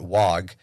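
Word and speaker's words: Waaagh: They probably think that WOG is some like super secret orc only blah blah blah. It's the Cockney pronunciation of the word war.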